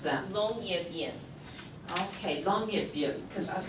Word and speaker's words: Longyearbyen: So last fall, she went to the world's northernmost town, and how do you pronounce that? Longyearbyen.